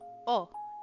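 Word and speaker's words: を: Um, is actually pronounced as o in standard Japanese anyways.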